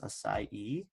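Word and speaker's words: açaí: was telling you about your acai it's pronounced acai and let's just put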